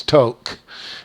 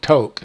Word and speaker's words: Tok: the roughest road is between the border and toke Alaska this is toke it's pronounced toke it's spelled t-ok but it's pronounced toke um